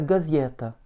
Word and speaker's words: газета: Газета, avec un accent tonique sur le Y.